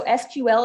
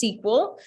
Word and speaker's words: SQL: So SQL is pronounced SQL. Some people still say SQL, it's whichever.